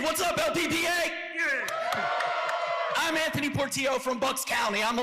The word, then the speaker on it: Portillo: We've got John Weir and Anthony Portillo. Let's start again. That's the gringoest way to pronounce my last name. Portillo? It's Portillo, yes. Portillo. My apologies. 2 L's is a Y.